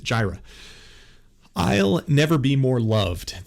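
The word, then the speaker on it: Jireh: it because i was curious how they pronounce gyra so i'm going to pronounce it the way they pronounce it jira i'll never be more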